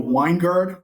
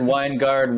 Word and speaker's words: Wengerd: here with weingard am I saying your last name right it's close enough we got one guard Winegard Wenger it's it's and sometimes I even pronounce it differently it's uh it's all over the place but it's fine you're good